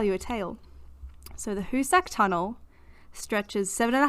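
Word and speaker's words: Hoosac: at home have we ever heard of the hussak tunnel no spell it you h double o s a c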